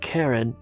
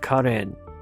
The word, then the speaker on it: Karen: And by the way, that's the way you pronounce it. It's not Karen, but Karen.